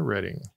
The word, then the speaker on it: Reading: And then with about 88,000, let's take a ride on the Reading.